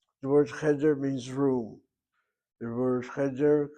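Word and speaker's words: חדר: So, that's why we have a situation with irregular syllable in the first syllable. The word cheder means room.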